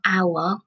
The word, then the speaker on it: hour: we say the word hour we don't we don't pronounce the H the H is silent so when we say